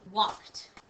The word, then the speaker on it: walked: got this part but there's a sneaky l in here we don't say walked but that's the way we spell it there's the sneaky L walked Walked all right let's